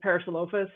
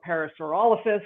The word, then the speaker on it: parasaurolophus: And then uh my herbivore is parasolophus or parasaurolophus, however you want to pronounce it.